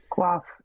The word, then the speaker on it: coif: Or coif. I'm not sure how to pronounce that. Quaff. Yeah, that's it.